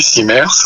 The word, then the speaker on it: CIMERS: corps, responsable du CIMERS, je sais pas comment on prononce, CIMERS, c'est ça? Oui, CIMERS, oui.